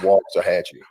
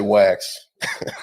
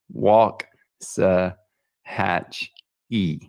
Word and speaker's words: Waxahachie: pronounce the city correctly it's walk as as if you're walking it's walk to hatchy don't come down here and say wax that's okay so now we know walk hatch e very good i know